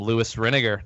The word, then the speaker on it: Lewis Renegar: So without further ado, welcome Louis Renegar. Did I pronounce that right?